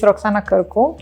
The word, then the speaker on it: Roxana Cîrcu: inviting us here so my name is roxanna kerko uh thank you for pronouncing it correctly i know it's a